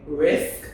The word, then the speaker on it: Rizk: And so that's where I get my last name, Rizk, R-I-Z-K. It's really supposed to be pronounced Rizk, but nobody pronounces it that way.